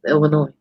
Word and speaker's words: Illinois: That's how it's pronounced, Illinois. I am confused. And all my teachers done me wrong. That was the They shouldn't put the S on it if they don't want you to put the S on it. The S is silent.